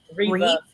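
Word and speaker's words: Revé: It's Reve. It's Reeve, Reeve? Reeve. They call her Reeve Okay.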